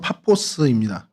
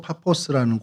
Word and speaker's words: 파포스: 어 이름이 지금 그렇죠 바보인데 원래의 발음은 파포스입니다. 그 헬라어로 파포스라는 곳인데요.